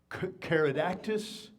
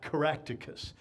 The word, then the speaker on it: Caractacus: There's Caradactus, same guy, Caractacus. Two different pronunciations of the same guy, okay?